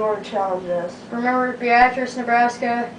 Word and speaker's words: Beatrice: Remember, Beatrice, Nebraska. You may pronounce it Beatrice. That's the way it's spelled.